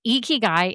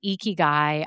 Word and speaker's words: Ikigai: It's Ikigai and the haters won. The haters won on that. The person was right. It's Ikigai.